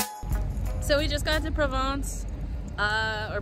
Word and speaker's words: Provins: So we just got to Provins. Or Provins. I don't think you're supposed to pronounce the S, but you know, whatever.